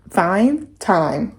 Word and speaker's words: thyme: And then I got some thyme. How do you pronounce that?